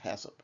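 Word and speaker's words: HACCP: we'll go on to hat hasip and it's pronounced hasip and hasip that's kind of has an interesting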